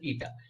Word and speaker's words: eta: Yes, that is called as eta.